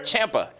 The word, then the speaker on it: Ciampa: Tommaso Ciampa. Yes, sir. Did I say it right? Ciampa. Ciampa. He's the champ. I can spell it right, but I can't say it right.